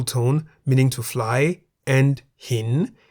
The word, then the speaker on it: หิน: Examples of words containing Sara-E are bin in the middle tone, meaning to fly, and hin in the rising tone, meaning stone or rock.